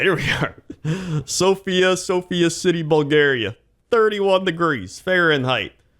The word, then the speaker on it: Sofia: Sofia, not pronounced like the name, Bulgaria. So not Sophia.